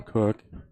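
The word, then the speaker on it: Koch: Pretty sure it's pronounced Cook, but could be wrong.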